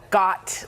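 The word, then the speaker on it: gyat: The first one is called got, like yacht. Pronounced like yacht with a G.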